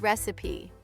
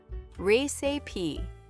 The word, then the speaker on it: recipe: The first one is recipe. It has three parts. Recipe.